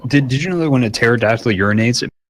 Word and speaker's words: pterodactyl: did digitally when a pterodactyl urinated sound because the P is silent nephew Luke will be